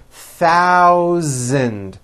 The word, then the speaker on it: thousand: In this paragraph, be aware of my pronunciation of numbers, especially the TH and the voiced Z sound, Z, in the word thousand. Thousand, okay?